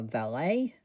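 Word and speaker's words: Vaelet: So we have a valet. That is how it's pronounced.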